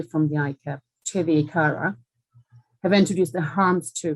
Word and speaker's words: ICARA: and risk assessment, or ICARA or ICARA. There's sort of a controversy out there as how it's pronounced. The FCA had one view in their seminars in November, and everyone was sitting there saying, I always thought it was ICARA, but however you pronounce the abbreviation, it's ICARA.